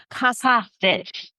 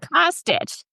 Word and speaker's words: Kostich: mispronounced your last name so it's Sonia C cage yes cage you were right H not that bad